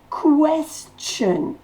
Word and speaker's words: question: Question. Le T-I-O-N se dit ch. Question. Et la syllabe accentuée, c'est quest. Question.